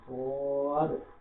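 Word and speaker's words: صاد: তারপর সোয়াদ, সোয়াদের এই গন্তে স, এটা মোটা করে উচ্চারণ করবো, সোয়াদ, সোয়াদ।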